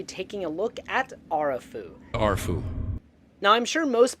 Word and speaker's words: Arefu: So if my Romanian pronunciation is okay, the proper pronunciation would be Arefu.